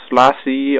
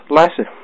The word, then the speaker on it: Lasse: it guys that there's many who says lassy or just l or something but it's lassy um L lass some